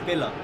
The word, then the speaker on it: Biller: It's just Biller.